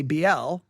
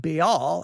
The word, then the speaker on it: Baal: little bit about pronunciation be all bail i say oh i always want to say bl i i always want to say it that way because i think that's the way it was taught but be all i think is the correct way and then we heard